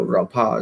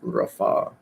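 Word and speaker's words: רפא: No, Rapa is how it's spelled out, but it's pronounced Rafa.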